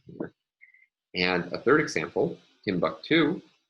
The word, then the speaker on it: Timbuktu: And a third example, Timbuktu. Here, we have a primary stress on the final of three syllables.